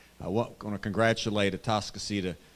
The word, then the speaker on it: Atascocita: want want to congratulate at tascas or as the locals say tuscco High School uh for their